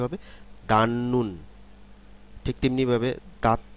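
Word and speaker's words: 닫는: ঠিক তেমনিভাবে দাঁত নুন, আসলে দাঁত নুন না, শব্দে যখন উচ্চারিত হবে এই সিলেবলগুলো দিয়ে যখন শব্দ তৈরি হবে তখন এর উচ্চারণটি হবে দান নুন।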